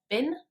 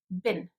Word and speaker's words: bin: bin, in the word bin, the I is a very short sound and it sounds kind of like bin, bin. And sometimes people tend to pronounce it like a long E sound.